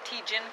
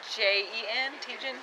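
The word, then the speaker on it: Tietjen: Tejan Concrete. Tejan, spell it for us. T-I-E-T-J-E-N, Tejan.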